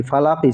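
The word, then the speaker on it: فَلَق: অফজের কি, ফালাকই ছিল, অক্ফ হওয়ার কারণে এখানে কি হবে, কফটা সাকিন হয়ে যাবে। মনে রাখতে হবে এক জবর এক জের এক পেশ, দুই জের দুই পেশ হলে পরে সেই অক্ষের অক্ষরটা সাকিন হয়ে যায়। এখানে যেহেতু এক জবর এসেছে এই জন্য সেখানে কফটা সাকিন হয়ে যাবে, পড়তে হবে ফালাক, কুল আউযু বিরাব্বিল ফালাক,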